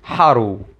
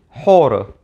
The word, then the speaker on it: Horus: change over time so earlier in Egyptian history we know that it was pronounced something like Haru however after the reign of Ramses II we know that it was actually pronounced something like horror so as you can